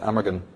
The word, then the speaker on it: Amergin: In Celtic tradition, one of the earliest poets of Ireland, the precursor to Merlin, was called Abergahain, or in English you pronounce it Amergin.